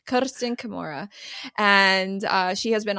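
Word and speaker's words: Kersten Kimura: schooled me on how to say her name Ken Kamura and uh she has been on the podcast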